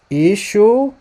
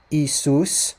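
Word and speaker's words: ܝܫܘܥ: Ishu Sheikha. Ishu Sheikha. One more time. Ishum Sheikha. Not Isus, like he said. Not Isus, the way that it's pronounced in Greek. Isus, not like that.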